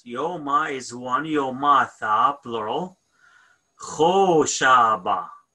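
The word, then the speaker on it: ܚܕܒܫܒܐ: Kho Shaba. Dalat is silent, right? Kho Shaba.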